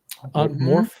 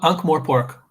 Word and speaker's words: Ankh-Morpork: Ankh-Morph? Is that how you say it? Ankh-Morpork.